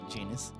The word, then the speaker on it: Janus: I'm sorry, it's Janus? Like anus? No. It's pronounced Janus.